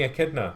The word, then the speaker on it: echidna: Yeah, No, it's an echidna, like a spiny echidna. Yeah. It's basically a hedgehog with a long nose. It's I suppose it's spelled echidna, Yeah. but it's echidna you pronounce it.